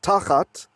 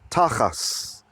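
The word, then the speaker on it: תחת: And again, I like to share that tachat, if you read it like Ashkenazi pronunciation, that's the German Jewish or like European Jewish pronunciation, tachat is tachas.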